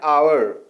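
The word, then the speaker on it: hour: For example an आवर, an honest man, N honourable man. यहाँ पर H silent है, इसलिए वाउल की आवाज़ आ रही है, वाउल का साउंड आ रहा है और हमने एन का यूज़ किया है.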